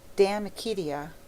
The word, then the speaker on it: De Amicitia: We've finished Livy and De Senectute, and now engaged with De Amicitia, pronounced Damicitia.